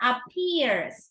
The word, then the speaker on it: appears: here excuse me there appears okay apps a stress on the second syllable right there appears to